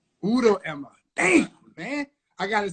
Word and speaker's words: Udo-Ema: Man, you got to see because you got the first name right, but you got the last name. The last name's Udo-Ema. Udo-Ema.